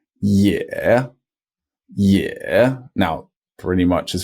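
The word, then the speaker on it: 也: is the pronunciation E when it's on its own it's spelled ye e such as with also in Chinese which is a third tone yeah yeah now pretty much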